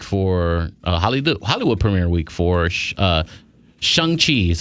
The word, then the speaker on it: Shang-Chi: Anyway, so it's premiere week for Hollywood premiere week for Shang Chi is how you say it. Yeah, Shang Chi. Look at you with the pronunciation.